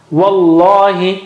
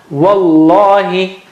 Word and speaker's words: Wallahi: By the way, you don't say wallahi. Why? Because you know the rule that if after mad there is shadda or sukoon, the shadda is calling for help, serious help.